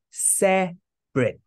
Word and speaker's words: separate: ah separate okay separate we say separate separate yes it is two syllable even when it looks three syllables separate separate and divide